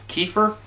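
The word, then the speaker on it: Kiefer: Kyer Southerland or kefir southernland how do you pronounce his name Dave kefir kefir okay well kefir southernland who played Snake or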